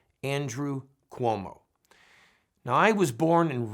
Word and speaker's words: Cuomo: the way it's not como it is actually pronounce Cuomo it is an Italian name and just FYI you'll hear people say it both ways but the proper pronunciation is Cuomo Governor Cuomo is now